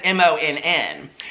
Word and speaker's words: Monn: But it's not pronounced that way, okay? It's pronounced Monn, like, you know, like Monn, okay?